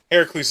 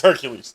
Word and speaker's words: Hercules: about hercules and xena i said it wrong here there you go heracles is actually wrong it's hercules the show is hercules so yeah hercules and